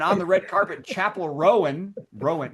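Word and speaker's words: Roan: And on the red carpet, Chapel Rowan. Rowan. Is that how you say her name? Ran. How do you say it? Ran. Ran. Chapel. Ran. Ran. There's no vowels in there.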